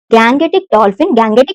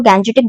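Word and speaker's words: Gangetic: वो है हमारा विक्रमशिला गैंगेटिक डॉल्फिन बोल लो, गैंजेटिक डॉल्फिन बोल लो, जो भी आपका एक्सेंट है, जो भी आप बोलना चाहते हो, जो भी आप जैसे भी आप प्रोनाउंस करते हो, वो ये है that Vikramshila गैंगेटिक dolphin century.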